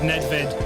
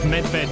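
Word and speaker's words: Nedvěd: My name is Nedved, but it can also be pronounced as Medved, which means bear in Czech.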